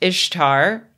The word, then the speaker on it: Ishtar: been corrected by an aceriologist named Megan Lewis Ishtar just for the record is pronounced Ishtar not Easter she was the goddess of warfare